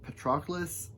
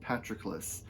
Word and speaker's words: Patroclus: I've heard it pronounced Patroclus and Patroclus. I guess one of them is sort of the like Americanized version or the modern version. One of them is a more like how they would have pronounced it in ancient Greece, not modern Greek.